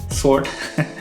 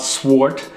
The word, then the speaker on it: sword: saying it right now right sword not swart as i used to say it anyways the sword is